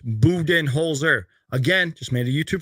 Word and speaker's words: Budenholzer: just gave us permission we can say Buton holer but it is pronounced buen holer again just made a